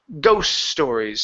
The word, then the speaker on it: ghost stories: stories alright so here because the T in ghosts is surrounded by by countenance we have an S here and an S here the tea is not going to be pronounced so we don't need to say ghost s stories it's just ghost stories so move from the